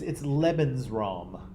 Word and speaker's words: Lebensraum: So it's Lebensraum.